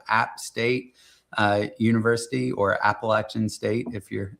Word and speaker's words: Appalachian: So, a small uh tertiary market in Northwest North Carolina, home of App State uh University or Appalachin State if you're saying it correctly.